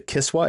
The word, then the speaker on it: Kiswa: sent Jeffrey Epstein, like three pieces of the Kiswa, is that how it's pronounced?